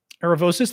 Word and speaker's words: Aravosis: Um Aravosis, that is how to pronounce my last name.